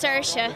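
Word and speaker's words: Saoirse: unique name stands for first of all it's pronounced sersa like inersia um and it's Irish for Freedom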